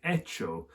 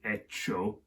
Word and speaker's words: hecho: and they go with hecho. So the F in the Latin has become an H in the Spanish, and Spanish H's are silent.